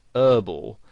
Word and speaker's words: herbal: Now, in American English, the word herbal has the H silent, so they pronounce it herbal.